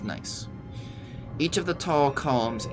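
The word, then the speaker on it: gneiss: form the cliff face and yes that's pronounced nice each of the tall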